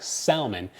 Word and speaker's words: salmon: your inability to not pronounce L's in words that have silent L's like salmon um but in that